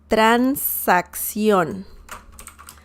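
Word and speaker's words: transacción: spelling la transaction and this double c is a very interesting sound in spanish um and it sounds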